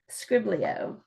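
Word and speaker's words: skribbl.io: You can do a Pictionary type of game, and it's called Scriblio. Have you heard of that one? And I'll spell it out.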